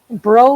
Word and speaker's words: Breau: wrong this time but do you pronounce your last name that way bro like snow okay so i did